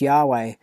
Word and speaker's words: Yahweh: So Lord knows how this word is to be pronounced, but the more agreed upon pronunciation amongst scholars, so they can talk about it, is Yahweh, and this is a